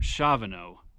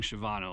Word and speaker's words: Shavano: okay I stand corrected Scott just told me this is actually mount Shavano I've been saying shyano like an idiot for years and behind me I've